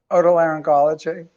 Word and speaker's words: Otolaryngology: How do you pronounce Otolaryngology. Otolaryngology.